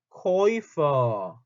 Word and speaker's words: Käufer: umlaut하고 우가 붙으면 발음 어떻게 하죠, 이거? 발음 어떻게 해요? 오이라고 발음하면 되죠. 오이라고 발음하면 되겠죠. 이거 어디서 나왔어요, 우리가? 직업 얘기할 때 나오지 않나요? 직업 뭐였죠? fair 뭐였죠? Käufer. Verkäufer 얘기할 때 썼죠. umlaut와 우가 나면 발음이 오이라고 된다.